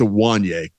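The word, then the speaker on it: Ioane: I think it's Awanye.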